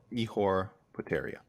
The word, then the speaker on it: Ihor Poteria: $204, the official weight for Ihor Poteria. 204. Ihor Poteria. Thank you, John Anik, on the pronunciation on that one for sure.